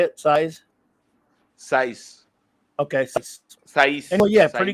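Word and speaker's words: Saiz: Jesus Sayas or something like that. Yeah. Signs. So, Yeah. how do you say it? Size? Size.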